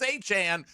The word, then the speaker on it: Etienne: Etienne. I see, that's what we've been saying, brother, and he just he goes to New Orleans. He says, "No, it's Etienne."